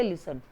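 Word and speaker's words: listen: silent है यहां पर इसको बोलेंगे लिसन लिसन नहीं बोला जाएगा लिसन तो इसमें टी साइलेंट लेटर है जो मैंने सामने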